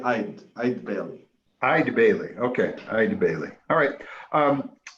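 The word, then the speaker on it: Eide Bailly: So I want to make sure it's Eid Bailey. Is that how it's pronounced? It's actually Eid Bailey.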